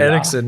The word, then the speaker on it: Eriksen: Can we pronounce his name? Christian Eriksen. Eriksen, yes.